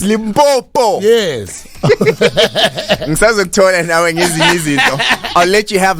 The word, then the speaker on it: Limpopo: yeah boy boom boots not limp on polka it's Limpopo easy I'll let you